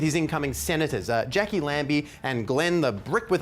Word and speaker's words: Lambie: no no with his incoming Senators uh Jackie lamby and Glenn the brick with eyes Lazarus Oh you mean Lemmy in the bricks ah well no I didn't and it's pronounced Lambie what oh well that changes everything I don't